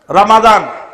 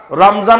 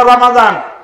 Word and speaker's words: রমাদান: বারাকাত বরকত নয় বারাকাত রমাদান রমাজান না রমাদান রমাদান বারাকাত জুমা তাহলে এখানে